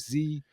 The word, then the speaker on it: Z: He was in a fantastic movie called Lost City of Z, or Lost City of Zed, if you want to do the British pronunciation.